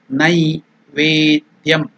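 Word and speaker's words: नैवेद्यम्: Again I am telling you Nai. It is not Ne. Naivedyam.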